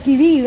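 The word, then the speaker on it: qui-vive: So it's pronounced as Kiviv, and there's a very interesting story behind it.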